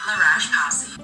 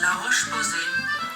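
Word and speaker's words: La Roche-Posay: It's not Lash P. It's Lar Ro Pose.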